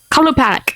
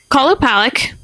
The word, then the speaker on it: Qalupalik: Kalupalik. Okay, we'll go with it. Yeah, Okay. it's gonna be. The Kalupalik, an Intuit version of a mermaid or siren.